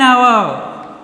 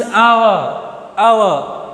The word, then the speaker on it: hour: When the H is silent, For example, use an hour. Listen carefully. An hour. H is silent here. you should pronounce our, an hour.